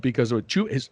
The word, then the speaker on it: Chuba: They are built to give the Sooners trouble, because of Chuba. Is his name Chuba? Is that how you pronounce that? Chuba Hubbard? No, it's Chubba Hubbard. Hubbard? Okay. It's just like Chubby Bunny.